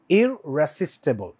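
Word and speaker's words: irresistible: সময় একটু খেয়াল করবা ইররেসিস্টেবল ইরেসিস্টেবল ইরেসিস্টেবল আর টা দুইবার উচ্চারণ হচ্ছে তাই না সো এখানে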